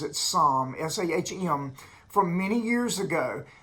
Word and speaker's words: Sahm: But there was a Fed member named Claudia Sahm, I think she pronounces it Sahm, S-A-H-M, from many years ago that had a